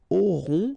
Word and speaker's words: auront: Okay, then ils auront, final T not pronounced, O-N together, on, auront, okay, and then the link between the two, ils auront, elles auront.